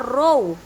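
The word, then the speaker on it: ρ: yang ketiga massa jenis lambang besaran turunan nya mirip huruf P tapi ini dibaca row rumusnya atau rumus yang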